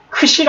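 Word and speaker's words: ξι: 제타 해가지고지 발음인데 그죠 이 크시는 키과 시옥이 두 가지 발음이납니다 그래서 크 시라고 합니다 크시 크시 예 그니까 한글로 얘기하면 뭐겠습니까 이중 자음이 되겠죠 그죠 자음이 두 개가 겹쳐져 있습니다 이렇게 예 그래서 크시 영어로는 이렇게 발음을 그래서 크스 크스 크스 이렇게 돼 있죠 그다음에이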